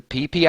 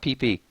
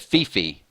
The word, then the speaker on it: Phi Phi: Bora Bora or the pp Islands everybody Giggles with thata PP it's it's Thailand it's Phi Phi I'm pretty sure it's pronounced PP though instead of Fifi I went to I